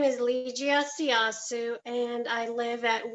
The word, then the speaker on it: Ligia: The next citizen is Miss, ma'am, I hope I pronounced it correctly, Liga, L-I-G-I-A, Liga, if I'm pronouncing that right.